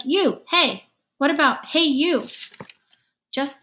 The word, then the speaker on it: Unhei: no no he corrected it's spelt u-n-h-e-i it's pronounced it's you hey the boy said like you hey what about hey you